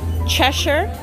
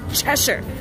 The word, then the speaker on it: Cheshire: I wanted to see the sweatpants you cut Cheshire haha for all my people in the UK watching I said it right Cheshire Cheshire Cat Mad Hatter Alice I love this and